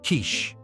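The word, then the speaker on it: quiche: leans over and Whispers buddy I believe it's pronounced Kish three men die and are sent to Hell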